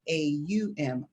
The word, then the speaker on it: Om: So Yeah, even though it's spelled O-M, it's pronounced A-U-M.